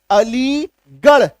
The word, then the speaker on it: अलीगढ़: कुछ ऐसे naming word हैं खास करके जगहों के नाम वहां पे आर का उच्चारण ढ होता है। वहां पे आर का उच्चारण ढ होता है। जैसे रामगढ़ ढ अलीगढ़ ढ रायगढ़ ढ आजमगढ़